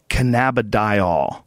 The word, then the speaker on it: cannabidiol: So if you're looking for a premium cannabidiol, that's how you say it, product like that, the gold standard is whole plant extracts, and some companies just extract one compound.